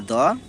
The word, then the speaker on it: the: मतलब होता है व्यंजन व्यंजन से हो फॉर एग्जांपल मैं बताना चाहूंगा द बॉय इसका प्रोनाउंसिएशन होगा द बॉय ठीक है अब यहां